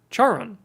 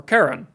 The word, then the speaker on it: Charon: is the dwarf planet charon or karen i've heard it pronounced both ways um but if we